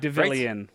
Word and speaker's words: Devilian: Citizen I'm done okay lener how do you pronounce this devilian deilan deilan has launched it launched on December 10th